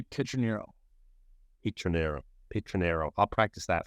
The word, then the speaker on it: Pietroniro: So it would be Pietroniro.